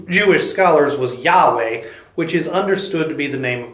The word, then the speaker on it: Yahweh: to yhw H now we don't actually know how yhw H is supposed to be pronounced but the best guess of the Jewish scholars was Yahweh which is understood to